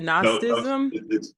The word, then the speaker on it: Gnosticism: Not No, no, Gnosticism.